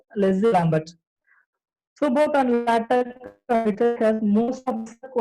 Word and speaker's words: LaTeX: First of all, LaTeX is pronounced by LaTeX, not latex.